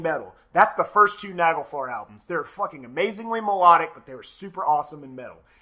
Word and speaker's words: Nagelfar: I'm pretty sure it's pronounced Nagelfar in the Swedish tongue.